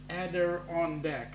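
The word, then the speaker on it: Adirondack: from Montreal is called the Adon ader deck pronounced ader on De okay ader de thanks for the pronunciation mate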